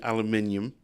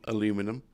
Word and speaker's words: aluminium: maybe aluminium, not aluminum. Okay. I'm just finding where we have the cutoffs and where we don't. Aluminium. It's the same as the way Americans say it, just got an I in it. You know, to be consistent with all the other elements, like chromium and platinum.